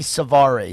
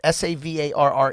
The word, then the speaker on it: Savarre: already it's spelt like like it could be Suvari so how do you spell it sa VAR re it's pronounced Savar awesome alright welcome thank